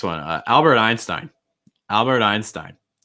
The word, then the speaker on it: Einstein: albert einstein albert einstein key thing with um einstein is that um you want to make sure that uh albert einstein or like just like people in general what you want to make sure is that you're stressing the last name okay einstein einstein albert